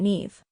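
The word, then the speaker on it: Niamh: simpler than it looks pronounce it NE it's like leave but with an h a DOT name nine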